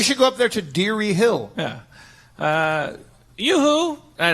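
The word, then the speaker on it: Derry: you okay maybe she has some cheese what Dar oh it's spelled D e r r y oh uh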